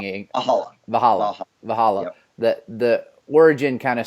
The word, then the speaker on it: Valhalla: Is that how I pronounce it, or am I pronouncing it? Valhalla.